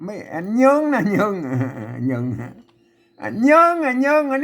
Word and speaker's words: เยิง: ไม่ เยิง น่ะ เยง เยง เยิง อ่ะ เยิง อัน นี้ เยิง นะ ครับ เยิง ยอ นะ ตัว ย เนี่ย อ่าน ว่า เยิง นะ ก็ เยิง มา นี้